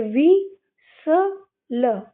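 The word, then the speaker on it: whistle: भी क्या हो जाएगा यहां पे भी हमारा टी साइलेंट हो जाएगा तो मैंने बताया डब्ल्यू एस से व बनता है तो ये वि स ल और लास्ट की इ हम पढ़ते नहीं है तो विस ल विसल क्या पढ़ेंगे विसल विसल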